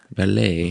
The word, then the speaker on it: Valee: Valee. Valee? You know, it's like fiancé.